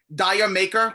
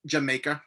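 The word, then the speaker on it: D'yer Mak'er: my favorites dancing days dire maker which is obviously jamaica but i'm doing the way it's spelt the ocean another great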